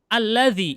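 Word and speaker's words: الذي: Alladzi ada ya-nya ya di belakangnya. Kayak gini pastinya. Dia orang Arab dari dulu bacanya alladzi seperti ini. Tidak boleh dibaca alladzia, alladzi, alladziyu, nggak bisa. Pasti dia sukun.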